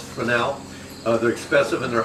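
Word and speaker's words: Fresnel: They're called spelled Fresno. It's pronounced frenel.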